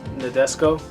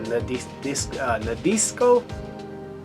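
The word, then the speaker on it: Nadesico: Martian Successor, Nadesco. I believe I'm saying it right, or Nadisco. I'm pretty sure it's Nadesco.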